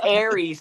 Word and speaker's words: Aras: say his name Tom it's Aries not ar ar he's got the Razor